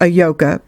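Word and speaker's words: Ayoka: As you know, a yoka, pronounced a-yoka, means bringer of happiness.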